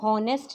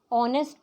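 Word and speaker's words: honest: इसी तरह ऑनेस्ट. ऑनेस्ट को हम हॉनेस्ट नहीं पढ़ते, ऑनेस्ट पढ़ते हैं. एच साइलेंट होता है, तो इसीलिए इसमें एन लगता है, क्योंकि ओ एक वॉवल की साउंड है.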